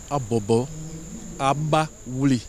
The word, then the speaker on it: Abobo Baoulé: La cérémonie de lancement officielle s'est tenue ce jeudi à Abobo Baoulé, déformation du nom d'origine du village. La prononciation c'est Abobo Abaoulé.